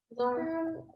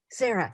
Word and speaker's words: Zara: Zara. My name's Zara. Sarah. Yes. All right, Sarah, what were you going to say? It's Zara. It begins with a Z.